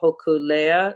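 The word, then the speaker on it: Hōkūleʻa: your uh your work with futurisms on the hokulea is did i say it right yeah i've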